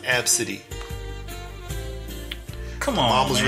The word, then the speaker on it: Abcde: Her name may be Absidy, her name may be ABCDE, but it's pronounced Absidy.